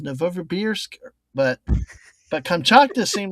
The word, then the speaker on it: Novosibirsk: But I always said Novosibirsk, but I guess it's Novosibirsk, but Kamchatka seemed like it's straightforward enough, but